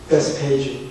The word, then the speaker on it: 벳바게: 베스페이주. 네, 그럴 줄 알았어요. 베스페이주가 벳박입니다. 히브리 원어는 벳박이가 발음 표시예요. 우리 한국 사람들이 그 원어의 발음을 더 잘하는 것 같아요. 거기 벳박인데 베스페이주는 알면서 벳박이는 모르더라고요.